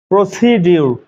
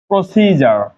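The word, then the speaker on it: procedure: বাংলা অর্থ সৈনিক দেখে কিন্তু মনে হচ্ছে না প্রসিডিউর লেখা আছে প্রসিডিউ তবে না উচ্চারণ কি হবে প্রসিজার প্রসিডার প্রসিডার প্রসিডিউর না তারপর একটা শব্দ আছে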